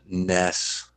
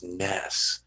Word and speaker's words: NES: just as an aside Nintendo officially confirmed the proper pronunciation is Ness not NES so and this is